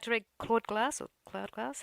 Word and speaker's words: Claude glass: Would you like to read Claude Glass or Cloud Glass? How do I pronounce that? Maybe tell us a little bit what that means. Sure. I always pronounce it Claude Glass.